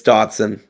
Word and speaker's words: Dotson: All right, the next game was Detective Dodson or Dawson. How do you say it, Dawson? It's Dotson.